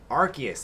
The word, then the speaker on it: Arceus: Arceus, as it's pronounced.